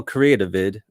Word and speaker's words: Creativid: Oh, Creativid.